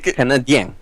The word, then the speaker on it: Canadien: Canadien. With the accent towards the end.